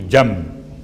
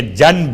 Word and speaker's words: جنب: جیم نون بے، چونکہ تجوید کے قاعدے کے لحاظ سے آپ کو تلفظ میں میم کی آواز محسوس ہوگی، جنب، حالانکہ جنب ہے۔ اس کا ترجمہ کیا ہے؟